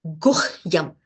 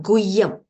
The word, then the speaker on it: Guhyam: So gu, it's not Guyam. Guh. H has to be properly pronounced. Okay. You're muted, Ji. Can you unmute yourself? Can you unmute? Oh, 1 minute. 1 minute. Okay, yes, I think you can unmute now. Can you just pronounce that Guhyam again? Guhyam. Yes, so H has to be pronounced, okay?